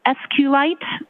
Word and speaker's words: SQLite: lowercase i t and sqlite uh is Al commonly pronounced as esite so both pronunciations are acceptable now once you receive